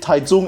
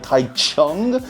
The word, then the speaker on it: Taichung: the way I did, Taichung, instead of how the way it is spelled, which is more like Taichung, more or less know that Taiwan does not use the system known as Hanyu Pinyin, which is the most